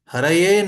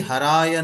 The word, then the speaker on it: Haraye: So if you open the bhajan book actually and see, it is Haraye Nama Krishna Yadavaya Namaha. Haraye Nama Krishna Yadavaya Namaha. It has been commonly pronounced as Hari Haraya Nama Krishna Yadavaya Namaha.